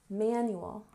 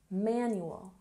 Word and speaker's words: manual: Manual. We stress the first syllable. Manual.